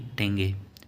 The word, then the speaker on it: tenge: Kazakhstan की टेंगे, TENGE spelling लिखा होता है तो ता भी मिल जाता है और टा भी होता है, टेंगे।